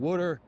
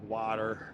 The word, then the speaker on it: water: And Woodter is one of them. Now you you have Philadelphiaians who try to pronounce it like water, you know, but it just doesn't roll off our native tongue that well.